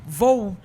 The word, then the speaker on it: Vow: é presidente do grupo como é que você pronuncia isso para não falar errado grupo V vou para não falar errado né grupo v e